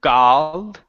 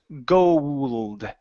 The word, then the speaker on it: gold: try that last word instead of G it's gold gold gold okay very good so